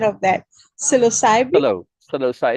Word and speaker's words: Psilocybe: Psilocybe. It's a silent P, yeah.